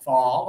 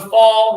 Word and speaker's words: fall: In the fall, you should wear warm socks. Socks. In the fall. Again, we have a letter A. And that's a letter O. But yeah, they use the same sound.